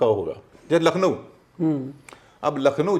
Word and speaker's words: लखनऊ: जैसे लखनऊ, अब लखनऊ जो है हिंदी में लखनऊ बोलते हैं, अंग्रेजी में क्या स्पेलिंग है?